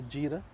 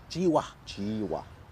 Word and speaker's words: Jiwa: Already he looks like a different bowler to Jira. Did I say his name right? Nabil Jiwa. Jiwa.